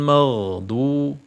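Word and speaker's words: مغضوب: ghu mag ketika disambung ketika disambungkan mim fathah dengan ghin jadi mag bukan Mang bukan Mang ya Jadi magdu ada sifat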